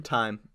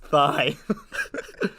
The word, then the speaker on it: thyme: Time. Cilantro It's- before hose. No, sorry, go back. Elvis parsley. It's not and basil. It's not pronounced thigh.